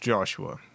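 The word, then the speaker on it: Joshqua: It's it's pronounced Joshua, but it it's spelled J O S H Q U A. The Q is silent.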